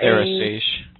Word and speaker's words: Therasage: I had looked at the, help me with the pronunciation. It's Thera. Therasage.